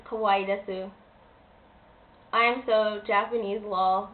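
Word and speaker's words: かわいいです: Yes, I said kawaii desu. That is a proper way to say it. It's kawaii desu.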